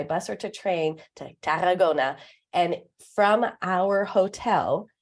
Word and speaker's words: Tarragona: How do you roll the R? You have to put your tongue, roll, Tarragona. Tarragona.